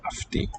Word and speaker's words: αυτή: And then the subject, that which the sentence is about, is here, this pronoun αυτή. The vowel letter for ancient U is here pronounced as an F, αυτή.